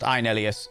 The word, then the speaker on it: Inelius: We're going to go raid Inelius, who I know is pronounced Inelius because I have read their profile and it says in their profile.